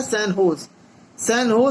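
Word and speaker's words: San Jose: recently the सैन जो spelling है, लेकिन इसको बोला जाता है, प्रोनाउंस किया जाता है सैन होज state university of which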